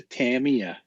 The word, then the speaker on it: Tamiya: fun what's a john schultz goes what's a tamia well it's a damn it's how it's pronounced for realsies yeah when we had we